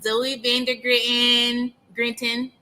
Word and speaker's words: Zoe Van der Grinten: Today we have a very special guest joining us, Zoe Van der Grinten. I said it wrong. No, you said it right. It was perfect.